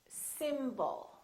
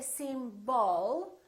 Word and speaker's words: symbol: Let's take a word like symbol. We have two syllables. The first syllable is stressed, and the second syllable is reduced.